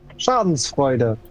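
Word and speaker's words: Schadenfreude: Schadensfreude. And that means? How to say it? It's basically having the joy of a misfortune of others. Ah, I see. Okay, okay. And that's Schansvoider?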